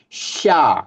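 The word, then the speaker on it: ش: Sya, kalau ditulis Latin SY, sya, sya, sya, shi, shu, ash, sya, shi, shu, ash.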